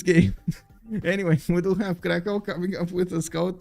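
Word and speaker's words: Kraków: Krakow, we got Krakow. Okay, there we go. I was not bamboozled. Wait. Krakow is how you say it.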